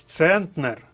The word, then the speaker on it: центнер: Коваль то другий склад А ось центнер вага в 100 кг наголос іде на перший склад зверніть увагу центнер перевіряємо решту шовковий другий